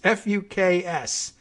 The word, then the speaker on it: Fuchs: The deal was arranged by Pavel, and I am hoping the pronunciation here is Fuchs or Fuchs. It's Fuks. Really, I think we must have read that name before.